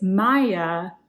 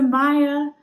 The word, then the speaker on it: Maja: It is Maja. The J is like a Y.